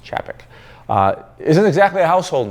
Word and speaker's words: Czapek: Now, most will want to pronounce the brand Czapek because there's a Z in there, but it's actually pronounced Czapek.